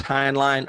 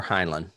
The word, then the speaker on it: Heinlein: how to pronounce it it's spelled like hind line and i've heard people pronounce it that way and that's why i